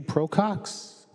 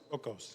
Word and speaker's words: Procos: Andrew Procox. I'm sorry if I mispronounced your last name. Is it Procos? Procos, yes. Procos.